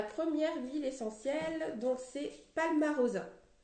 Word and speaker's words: Palmarosa: Alors, la première huile essentielle, donc c'est Palmarosa. Palmarosa, comme ça se prononce.